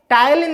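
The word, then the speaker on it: ptyalin: टलीन की स्पेलिंग थोड़ा देख लीजिए। पी से स्टार्ट होती है। पटायलीन होता है। यह पी साइलेंट होती है।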